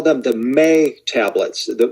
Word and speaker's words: me: they call them the may tablets the the word is spelled m-e but it's pronounced may and these are thought